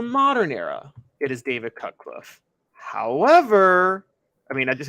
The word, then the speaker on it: Cutcliffe: Well, his name, last name rhymes with Rutcliffe, and his first name is the same as mine. It's David Cutcliffe, right?